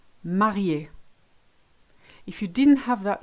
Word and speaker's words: marié: So an acute, which is this way around, makes it sound E. Café, cinéma, marié.